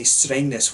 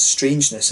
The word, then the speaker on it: Strängnäs: But this brewery is apparently named for the fact that Glenn couldn't say Strängnäs when he first came to Sweden, and, you know, he used to pronounce it as strangeness, and that just stuck